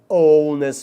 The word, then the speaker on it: honest: Então, H aí, nessas 4 palavrinhas, é mudo, é como se a palavra começasse na segunda letra aí, pessoal.